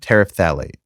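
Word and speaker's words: terephthalate: god of pronunciation okay I looked it up it's pronounced polyethylene tariff phthalate so the pet one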